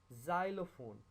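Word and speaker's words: xylophone: लेकिन अगर X Y से पहले आए तो वो आपको Z का साउंड देगा। Xylem, जाइलोफोन।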